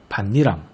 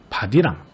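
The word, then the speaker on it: 밭이랑: 특히 이 혼니불, 반니랑, 솜니불의 경우 발음의 편의만 생각해서 호디불, 바디랑, 솜이불로 발음하는 경우가 종종 있거든요. 이렇게 읽지 말고 음절의 끝소리 규칙과 니은 첨가를 반드시 함께 적용해서 혼니불, 반니랑, 솜니불로 읽어야 한다는 것 꼭 주의했으면 좋겠어요.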